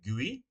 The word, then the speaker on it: GUI: Operating systems allow us to interact with the computer via a graphical user interface, or a GUI, pronounced a GUI.